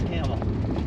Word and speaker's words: Campbell: not CL no it's camel it's it's spelled Campbell but they pronounce it camel camel yeah look like